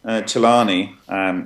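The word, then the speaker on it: Celani: Okay, well, Francesco Chelani is how you say his name. Chelani has been working in this field for 23 years, since the beginning.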